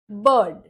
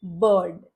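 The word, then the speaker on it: bird: इसका प्रोनंसिएशन हुआ heart बर्ड फिर से आर के बाद आया डी जो एक कॉन्सोनेंट साउंड है तो यहां पर भी हम आर का उच्चारण नहीं कर करेंगे शब्द है बर्ड थर्सडे थर्सडे में आर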